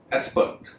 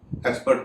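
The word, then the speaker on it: expert: जैसे एक्सपर्ट, एक्सपर्ट में आप साफ सुन पा रहे होंगे, एक्स का उच्चारण स हो रहा है।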